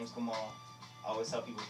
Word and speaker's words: Gamal: excellent my name is Kamal always help people pronounce with a lowercase G hello everybody sees that G and they want to do jumbo and it's not gentle as gum or in these hansoms